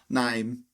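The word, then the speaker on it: Naim: His mother named him Name? Awesome. And it's literally pronounced Name. Anyway, Nime.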